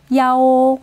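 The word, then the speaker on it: 一: 자, 방호수, 번호 등을 말할 때 숫자 이는 야오. 자, 야오라고 읽어요.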